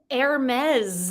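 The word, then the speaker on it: Hermès: the name of a Greek god but it's pronounced heres heres is your correct answer for number two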